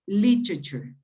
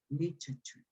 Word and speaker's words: literature: easier literally how to put it on the first syllable literature literature something like that literature